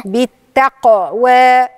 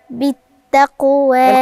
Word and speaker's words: بالتقوى: أو أمر بالتقوى بالتقوى بالتقوى القاف عندي حرف من حروف القلقلة بالتقوى بالتقوى لو ما عملتش اضطراب في القاف مش هتبان القاف يبقى لازم أدي القلقلة للحرف أقلقل الحرف يعني أعمل اضطراب في نطقه بالتقوى بالتقوى جميل أرأيت